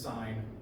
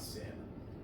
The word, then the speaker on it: sine: on your calculator and it is pronounced sign not sin so Define vibrations so